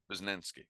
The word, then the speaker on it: Posnanski: Is that how you pronounce it? Posnanski.